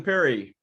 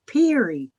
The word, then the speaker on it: Peary: But It's a long E sound. There's 2 E's instead of 2 R's like Perry. It's Peary. Peary.